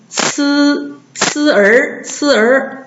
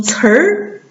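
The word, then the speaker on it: 词儿: 不能读呲儿，读成词儿是吧？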